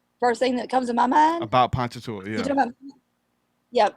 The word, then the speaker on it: Ponchatoula: And most people don't pronounce it right, but you can tell you're from there because you say it right. Mm-hmm. People like to say Pocahontas and everything else. I'm like Ponchatoula.